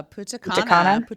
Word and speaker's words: Punta Cana: Yeah, Punta Cana.